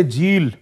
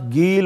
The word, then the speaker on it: جیل: آپ کا وطن شریف شہر جیل، جسے عجمی تلفظ کے ساتھ گیل اور گیلان بھی کہتے ہیں، حضرت غوث پاک